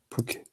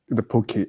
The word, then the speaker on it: Phuket: The Phuket. I'll show you. I'm sorry. That's fine. Phuket.